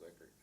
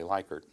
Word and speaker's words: Likert: out of it was knowing how Rensis Lickert pronounced his last name. And that's a way that I've been able to help the field immensely throughout my career, is correcting the people who want to say Likert.